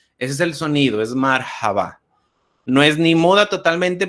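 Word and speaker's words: مرحبا: Es relativamente sencillo, decimos hola al saludar, marhaba. Aquí también pues mi pronunciación obviamente no es perfecta, la H no es como la decimos nosotros, es decir, no es marhaba, no es como J, que a veces lo decimos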